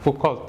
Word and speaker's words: Foucault: Ini adalah foto dari Foucault, tulisannya Foucault ya, tapi dibacanya Foucault.